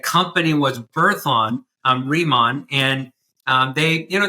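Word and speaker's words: Riman: So what's your role in the in in how do you pronounce it? Reman it's remon.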